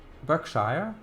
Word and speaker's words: Berkshire: little bit in fact Berkshire is pronounced back Berkshire Berkshire that has pretty